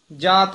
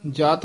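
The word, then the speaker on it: ਜਾਤ: घोड़ा की तो सहजदा जात कियो पलान जात पद पलाही उच्चारण करना जत नहीं कहना है तनख चढ़ायो सत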